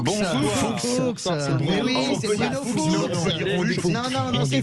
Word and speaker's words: Fuchs: Bruno Fuchs, on va prononcer à l'alsacienne pour faire plaisir. Non, on va prononcer normalement. Fuchs, c'est pas la peine de prononcer.